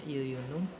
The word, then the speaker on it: jejunum: namanya Iya Yuyun uh menurutnya jejunum tapi dibacanya Yuyun Um atau usus kosong Ya